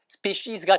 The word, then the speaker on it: species: species 종종이 발음을 원어민들 중에 species가 정식 발음이에요.